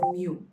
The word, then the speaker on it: mu: This here is mu. It's pronounced as mu.